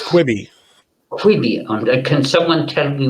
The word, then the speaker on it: Quibi: It's Quibi.